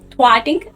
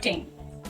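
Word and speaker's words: thing: एंड थर्ड इज टिंग इट इज नॉट टिंग इट्स थिंग एक बार आप मेरे प्रोनंसिएशन प ध्यान दीजिए थिंग ओके मैं आपको यह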